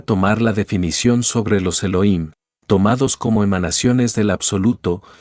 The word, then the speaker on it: Elohim: La H tiene sonido, se pronuncia como J, de manera que su pronunciación exacta es Elohim.